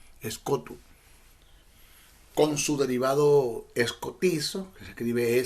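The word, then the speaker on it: σκοτόω: pasaje es del griego escot escot es la palabra el término e se escribe s k o t o o es cotu con su derivado escoti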